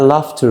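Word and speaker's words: laughter: بعدها سبيتش واللي بعدها لافتر الجي اتش مش هنطها فهقول عليها لافتر ودي وديت وديت اكت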